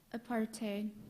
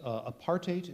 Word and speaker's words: apartheid: She's taking her time as much as anyone here Apartheid. tonight. Apartheid. Is there another alternate pronunciation? Yes. Apartheid is where we started. It can also be pronounced apartheid or apartheid.